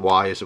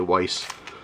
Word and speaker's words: Weis: store called Weiss or I call it wise which is how it's pronounced but a lot of people say Weiss but that's kind of